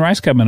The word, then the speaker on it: Rajskub: it's my full name mary lynn rice marilyn rice cubby of course that is spelled r-a-j-s-k-u-b tick-tock is fun i have to